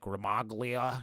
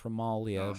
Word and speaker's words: Gramuglia: Yeah, my mother's married name has a silent G, so I used to get calls from the telemarketers and be like, Ramaglia. It's like, no, it's Ramalia, but it's no one ever pronounced it correct either.